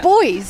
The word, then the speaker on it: buoys: Crabs, cataquacks, semi-submerged rocks, sand castles, deck chairs, buoys, coconuts, sailing boats. It's got it all. You say buoys? It's boys. It's how Americans say it.